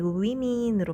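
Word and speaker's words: women: 발음은 똑같지만 알파벳이 달라집니다 워먼의 복수형은 발음도 달라지고 스펠링도 달라집니다 맨처럼 men으로 바뀌는데 발음이 우위민으로 바뀝니다 투스 이빨 하나의 복수형은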